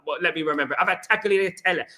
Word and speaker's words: tagliatelle: I've had tagliatelle.